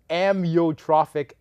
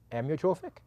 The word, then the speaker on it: amyotrophic: I think you enunciated the first one a little too long. So it's not Amyotrophic lateral sclerosis. Amyotrophic? Amyotrophic. Do I like to do it like an I? Amyotrophic lateral sclerosis.